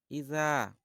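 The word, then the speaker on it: إِذَا: তো দেখুন, এখানে আছে ইজা। ইজা পাতলা, জাল পাতলা করে বলতে হবে এবং এক আলিফ পরিমাণ লম্বা করতে হবে। তারপরে যা, যা ৪ আলিফ পরিমাণ লম্বা করতে হবে। ইজা যা আ নাসরুল্লাহি ওয়াল ফাতহ।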